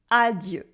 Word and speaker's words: adieu: now repeat after me add you with the french uh sound at the end add you add you adieu good and au revoir